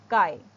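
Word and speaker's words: chi: e e head Arrow so this symbol is Kai is a Greek word it is pronounced as Kai C is C in I is I okay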